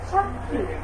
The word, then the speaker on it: সাক্ষী: এখানে দেখো 5 নম্বর নিয়মটা যে লিখলাম, যে শব্দের মাঝে বা শেষে, শব্দের মাঝখানে হতে পারে বা শেষে হতে পারে, উভয়ের উচ্চারণ ক খ হয়ে থাকে, কয়েকটা খ হয়ে থাকে।